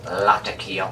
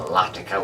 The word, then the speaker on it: Latakia: Um but the main component by far in terms of taste of any English style is Latakia or Latakia, whichever way you want to pronounce it.